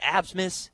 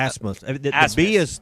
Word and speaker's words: Asmus: keep forgetting, is it Absmus? Is that how you say his name? Asmus. The B is silent.